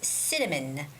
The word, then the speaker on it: cinnamon: moon also it's sits cinnamon cinnamon the stress goes on the first syllable which is cinnamon cinnamon and the last